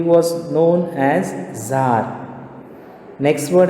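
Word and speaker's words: Tsar: इसको तसार नहीं बोलते, दिस द प्रोनाउंसिएशन है इसका जार, टी साइलेंट है।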